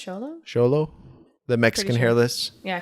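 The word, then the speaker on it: Xolo: solo i think it's charlo the mexican hairless yeah correct us on that pronunciation if you have a mexican hairless dog but i think it's show low okay but they need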